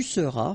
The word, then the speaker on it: seras: Je serai, tu seras, final S not pronounced, il sera, elle sera,